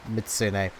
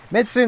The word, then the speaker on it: Mizutsune: again as i mentioned i know it's mitsune but mitsu midsoon is what i initially read it as and it's just what i learned that monster's name as i know i'm saying it wrong but you all know